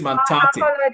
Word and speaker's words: Mantate: Tabitha, you almost murdered the name. I'm sure Mantate would have to. I would actually advise or suggest Mantate would have to sue you so that you know how to pronounce the name. The name is Mantate.